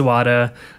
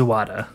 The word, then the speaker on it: Zawada: my conversation with Addison's wada sweet so I'm here with Addison's owada do you want to did I say that right yes that's correct it's just like it's spelled zou wada nice do you want